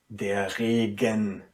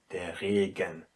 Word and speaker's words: Regen: And in between two vowels, the softness is very stressed. So what do we have to do here? You have to pronounce it der Regen, very distinct, der Regen, which means the rain.